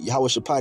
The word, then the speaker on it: Jehoshaphat: Jehoshaphat is how you say it in the ancient Hebrew.